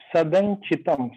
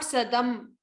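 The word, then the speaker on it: सदञ्चितम्: Sadan Chitam, not Sadam. It is not a makara.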